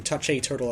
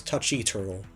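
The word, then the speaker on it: Touché Turtle: yeah I feel stupid for mispronouncing touch a turtle as touch e Turtle I don't know if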